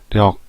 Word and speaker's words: 力: 력 또는 우리말로 할 때 역이라고 발음이 되기도 하죠.